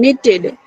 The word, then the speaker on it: knitted: Have you noticed how sweaters are kin- Knitted, knitted. knitted K is in knitted silent. in K knitted? is silent.